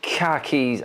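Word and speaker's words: Kerkez: it's uh L me KH keys at Bournemouth so you pronounce it KH Keys KH Keys you lost your car keys everyone where's my keys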